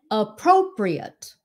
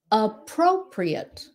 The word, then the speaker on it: appropriate: Four syllables. Appropriate. Appropriate. Okay. Appropriate. Rồi khi mà mình biết cái chỗ nào là mình đi lên đó, bây giờ mình nhìn lại cái từ nào. Okay, APP. Rồi pro mình phải lên.